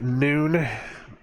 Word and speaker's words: Nun: the 14th letter of the alphabet this is pronounced noon even though it's spelled none in um but